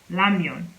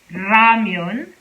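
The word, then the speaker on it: 라면: with an art but it's actually more pronounced like lamyon lamyon lamian so this is the correct pronunciation all right so if you've been pronouncing it as ramyun you have been pronouncing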